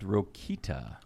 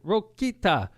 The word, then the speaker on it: Rokita: in the audience and pronounced it like he never heard the name before he goes ta rokita thank you very much you're doing a great job you said something to those and todd rokita was down there to